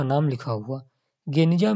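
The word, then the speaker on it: Geniza: 1896 में फुस्तात, पुराना काहिरा में बेन एजरा के यहूदी प्रार्थना भवन के एक सीलबंद कमरे, गेनिजा, जिसका उच्चारण गनिजा के रूप में किया जाता है, में मध्यकाल के यहूदी दस्तावेजों का एक विशाल संग्रह मिला।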